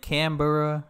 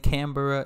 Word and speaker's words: Canberra: uh yeah I think Canberra I was saying Canberra instead of Canberra Canberra so I'm learning